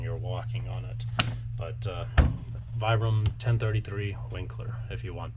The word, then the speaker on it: Vibram: I'm sorry, I still got to get the hang of pronouncing Vibram instead of Vibram. Proper terminology, it's pronounced Vibram, but habit ever since I was a kid pronouncing it Vibram because everyone said that around me. At least here in the US, that's how we pronounce it, is Vibram. Properly everywhere else in the world, it's Vibram.